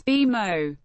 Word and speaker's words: BMO: the name Harris Bank the bank encourages pronouncing it as B Mo B Mo continued its